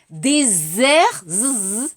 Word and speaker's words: désert: Attention, 발음, dessert, dijot, désert, samak. Attention.